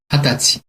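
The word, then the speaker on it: 二十歳: 20살도 굉장히 특이하게 읽어요. 그쵸? 20살은 조금 아마 성년이 되고 이러니까 좀 특별하게 읽는 것 같아요. 어떻게 읽죠? 20 歳、 그쵸? 핫다찌라고 사이가 붙지 않고요. 한자로 20살 사이까지 붙여서 세트로 핫다찌라고 읽습니다.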